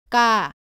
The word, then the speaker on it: 까: 모두 가와 발음이 비슷한데 까는 가보다는 세게 발음하고 공기가 나오지 않습니다.